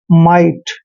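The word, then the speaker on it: might: एम का उच्चारण मैं करते हैं और IGHT को आइट पढ़ना है, मतलब माइट।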